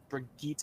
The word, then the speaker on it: Brigitte: the Pulse Bomb and Brigitte coming into play, or Brigitte, or however you want to pronounce it. It's Swedish.